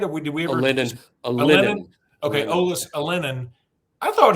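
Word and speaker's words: Alinen: I thought Olis Allen am I saying it right? Or did we ever? Alenin.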